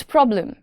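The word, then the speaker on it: problem: इट्स प्रॉब्लम। बी और एल का sound blend होता है।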